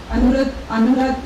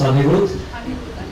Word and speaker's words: Anirudh: We welcome you and Alright, I had a bit of a problem with my name, it's Anirudh.